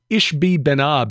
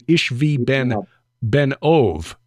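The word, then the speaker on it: Ishbi-benob: of them, whose name is Ishbi Ben-Ab is how it looks, but it's actually Ishvi Ben-Ov, which means Ishvi, son of the medium.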